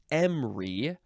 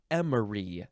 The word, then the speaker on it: emery: Next word is emery or emery. 2 syllables or 3.